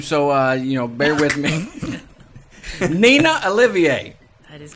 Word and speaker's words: Nena Olivier: Nena Olivier.